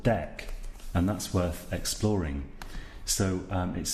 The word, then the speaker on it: deque: class that we haven't touched on it's called Dec and that's worth exploring so it's an acronym of double-ended queue which is why the strain spelling but it's pronounced Dec and my Internet's being a bit slow here